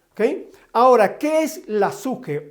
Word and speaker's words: psique: Hablemos un poco acerca de la suje, que es la pronunciación correcta para la palabra psique.